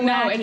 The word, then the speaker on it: Lackey: Is her name Lacey and we're mispronouncing it? No, Lackey, it's Lackey Lackey.